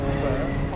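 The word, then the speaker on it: phở: Guys, we're going to make pho, a classic French Vietnamese dish, which actually, faux pas, should be called pho.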